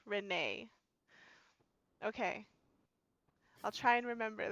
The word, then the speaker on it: Renee: let everyone know, and it is pronounced Renee.